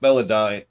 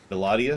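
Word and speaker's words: Belah'dia: up believe it or not bella die uh bellatia excuse me keep saying it wrong was actually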